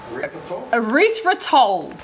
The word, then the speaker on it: erythritol: Erythritol.